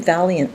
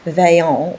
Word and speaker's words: Vaillant: come in is John People keep calling him Valiant, but that's not the way his name is spelled. So I'm going to call him Vaillant, which is how his name would be pronounced in French, and just wait until